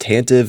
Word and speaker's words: Tantive: 75387 boarding the tantm 4 and yes it's pronounced tantive not tantive e I have no idea who came up